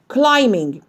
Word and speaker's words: climbing: climbing climbing ما قولش climbing climbing البي أصلا silent. climbing.